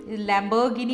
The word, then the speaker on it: लैम्बोर्गिनी: लैम्बोर्गिनी होता है, लैम्बोर्गिनी नहीं होता।